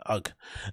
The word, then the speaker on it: UGG: Oh, is it UGG or UGGs? It's UGG.